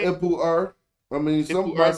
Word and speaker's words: Ipuwer: Ipuwer.